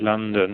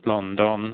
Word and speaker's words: London: it's not pronounced as as English people would pronounce the city London it's London and uh um he's got a general theory